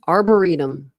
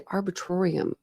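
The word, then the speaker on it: arboretum: arburetum. I always say arbitratorum.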